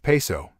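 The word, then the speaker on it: Piso: creation of the calpurnis Piezo pronounced peso family who were Roman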